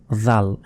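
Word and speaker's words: ذ: করে উচ্চারণ করলাম ছা ঠিক সেভাবে জাল জিবাটা বের করে মানে জিহাবার আগাটা এ দাঁতের সঙ্গে লাগিয়ে দিন সামনে যে দাঁতগুলো রয়েছে এ দাঁতের আগার সঙ্গে লাগিয়ে উচ্চারণ করতে হয় জাল জাল তারপর র র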